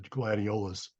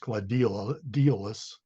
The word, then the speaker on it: gladiolus: And the other genus in the tribe is the gladiolus, which by the way I've never heard it pronounced gladiolus, which would be the third um, syllable from the end.